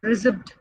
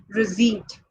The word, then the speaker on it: receipt: It's not receipt. The letter P is silent there. It is actually receipt.